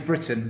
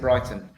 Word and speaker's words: Britain: from Italy so ironically my name is Britain but here in Italy they pronounce it Brighton so I I I